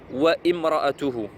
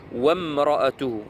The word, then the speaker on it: وامرأته: J'ai eu des cas, donc des frères qui lisaient wa imra'atuhu. Non, ici, alif, elle ne se prononce pas, elle n'est pas au début, cette alif là, hamzat wasl. Wamra'atuhu.